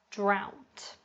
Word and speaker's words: drought: two we've got drought drought now this one is particularly confusing because we've got the oh you sound but it sounds more like an a sound instead and an example could